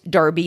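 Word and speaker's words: Enroughty: goes on to say the spelling in rufty has never been pronounced derby so far as we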